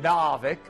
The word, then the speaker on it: Narvik: Narvik.